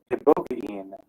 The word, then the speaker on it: ibogaine: One of them is pronounced ibogaine, which is a Western African shrub, psychedelic.